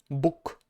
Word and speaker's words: Bóg: If a word ends in a consonant, this consonant is voiceless, okay? No matter what, it is just voiceless.